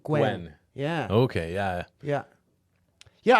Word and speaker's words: Nguyen: vietnam with his family in 1975 oh it's gwen you pronounced his last name gwen yeah okay yeah yeah yeah i always liked